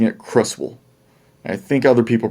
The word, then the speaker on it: Creswell: i think pronounce it cresswell but i grew up pronouncing it crustal i think other people pronounced it crust wool as well that w-e-l-l becomes a wool so crustal close well